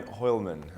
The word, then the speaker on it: Hoialmen: My name is Findlay-Shirras, and today we're talking with Hoialmen. Did I pronounce that correctly? Yeah, you pronounced it. Hoialmen.